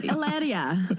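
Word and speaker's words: Hilaria: lot more I'm a lot more confusing than hararia baldon I can promise you that it's alaria say it right out yeah yeah you've just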